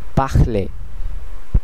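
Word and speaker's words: parler: প্রথম নিয়মটি হচ্ছে শেষের শব্দটি অথবা শেষের কনসোনেন্টটি ফরাসিতে সাধারণত উচ্চারণ করা হয় না। যদিও লেখা হয় কিন্তু সাইলেন্ট থাকে। যেমন এখানে একটি উদাহরণ আমরা দেখতে পাচ্ছি। পাখলে পাখলে পাখলে যার অর্থ কথা বলা।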